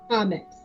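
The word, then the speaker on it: Kamex: your character's name again comics comics like comic let x okay yes k-a-m-e-x alrighty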